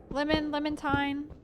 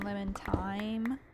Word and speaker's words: Lemonthyne: Lemontine is usually how I pronounce it. If that's hard for you to pronounce, then Lemontine is good, but like time. You're not supposed to pronounce it like thyme, the herb.